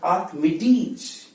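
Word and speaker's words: Archimedes: और इसे बोले आप तो यहां साउंड आएगा ज, आर्किमिडीज, आर्किमिडीज।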